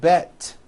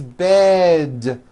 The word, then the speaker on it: bed: towards with d endings bed has a voiced d ending it's not bet with an unvoiced T it's bed with a voiced D